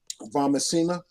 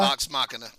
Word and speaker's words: Vox Machina: So my first one is from Amazon, and it's Animation, and that's Vamachina. Did I say it right, Ron? Vox Machina.